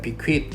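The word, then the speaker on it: bequeath: 여기서 th는 그 낚시반을 발음 뜨로 발음해야 됩니다. bequit.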